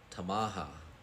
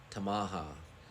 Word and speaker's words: Tamaha: is this town name right here it is pronounced tamaha tamaha and this literally just means town so tamaha